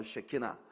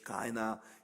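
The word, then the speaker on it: Shekhinah: 거예요 소위 그 쉐키나 히브리 말로 쉐키나 어 우리가 보통 영어권에 있는 사람들이 히브리 말을 영어식으로 발음을 해서 카이나 이렇게 말을 하는데 시카이 글로리이 하나님의 임재가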